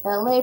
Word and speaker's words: Elay: My name is Elay, pronounced like LA like the city.